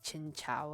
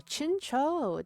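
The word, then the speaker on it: Chinchou: Twitch you know um so chincho if you ever hear me say chin ciao again that's my inner child coming out when I didn't know how to pronounce Japanese correctly so chincho that's a second gen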